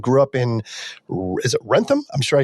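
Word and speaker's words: Wrentham: Born in Sacramento, California, and grew up in, is it Rentham? I'm sure I said it wrong. No, that sounds good. Rentham, Massachusetts.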